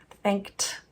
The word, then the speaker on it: thanked: one to see that thanked. There's a t, but that ed is how we spell it because it's our past tense suffix.